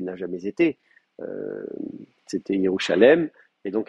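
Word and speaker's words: ירושלים: Donc effectivement, Jérusalem, c'était pas Yerushalayim, c'était Yerushalem, et ça n'est qu'après qu'on en a fait un faux duel.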